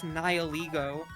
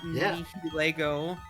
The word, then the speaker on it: Nihilego: But, like, in terms of, like, tying it to the English word, like, annihilate, like, or nihilism.